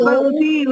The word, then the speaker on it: मनसा: जो नकार है उसके पीछे अ का उच्चारण साथ में आना चाहिए। मन, मन, मन से, मन सा, पूरा आकार पता चलना चाहिए उसमें उच्चारण के समय। मनसा, मन से ऐसा बोलेंगे तो वो अलंत वाला हो जाएगा।